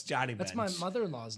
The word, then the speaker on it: Johnny Bench: You've just been pronouncing it Johnny. Joni Bench. No, it's Johnny Bench.